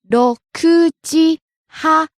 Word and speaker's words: 6時半: 6 o'clock is 6時 Ku is high, but half past 6 is 6時半 So 6時半 goes up at ku and stays high and drop at So low to high, back down to low high.